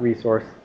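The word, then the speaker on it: rsrc: talk about it and dot RS c r dot resource i just pronounce it like resource that resource is where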